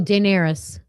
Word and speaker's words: Daenerys: I'll never be able to How do you pronounce this, Kim? Oh, Daenerys.